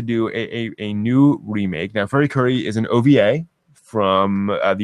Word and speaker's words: FLCL: apparently planning to do a new remake now furi kuri is an ova from the year two thousand